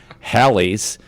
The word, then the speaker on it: Halley: Until 1952, WPWA radio station program director Bob Johnson suggested Haley, rhymes with Bailey, take advantage of the common mispronunciation of Halley's, rhymes with Sally's Comet.